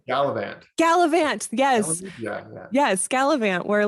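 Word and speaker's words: Galavant: G Galant G oh probably saying it wrong gallivant gallivant yes yes scalant where like he had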